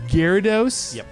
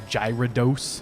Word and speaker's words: Gyarados: wives tale that's what Magikarp evolved into whoa Gyarados I even said it right a hero DOS people pronounce it Angie Radha DOS hero dose or gyro dose gyro dose like no it's Japanese and there